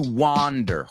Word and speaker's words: wander: if he likes to wander Juan the same sound as Juan Juan wander so we got it